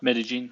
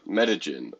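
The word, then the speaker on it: Medellín: Medellin, it's called. Medellin. Okay, I just So butchered that name. double L in Spanish is J.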